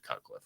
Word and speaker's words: Cutcliffe: Well, his name, last name rhymes with Rutcliffe, and his first name is the same as mine. It's David Cutcliffe, right?